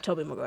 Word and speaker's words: Tobey Maguire: say I have a opposing viewpoint on this because people could argue that Tobey Maguire's, is that how you pronounce his name? Yeah. Tobey Maguire.